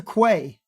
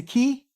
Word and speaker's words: quay: a Quay what's a Quay am I saying that word right Quay qu is a key pronounce key okay thank you you qua qu it's a key all right cool thanks